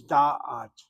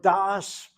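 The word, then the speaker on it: דַּעַת: You know, watch how I'm saying it. Torah, that's good Ashkenazi Hebrew. Vadas. Torah Vadas. That word das is meant to be the equivalent of dayat. Oh no, of da'at right here.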